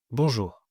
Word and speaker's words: bonjour: Donc, dans ces cas, on entendra à peine le R. Écoutez, bonjour, d'accord, encore. Il s'agit plus d'un léger soupir, mais pas d'une vraie vibration.